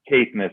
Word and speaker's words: Caithness: Caithness is how it's pronounced.